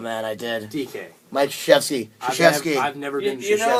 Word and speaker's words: Krzyzewski: assistant coach doing the head coaching because what Krzyzewski was Did you back just in mispronounce Krzyzewski's Oh name? man, I did. DK. Mike Krzyzewski.